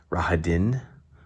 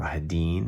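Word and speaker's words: Rahadin: is doing it now raha din or rahadeen however you want to pronounce it this is somebody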